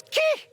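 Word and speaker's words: Khi: Il s'écrit K-H-I et il se prononce ki.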